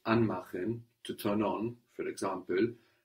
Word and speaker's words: anmachen: Because the stress is on the an part. Very good. An is stressed, which shows us that's a word in its own right.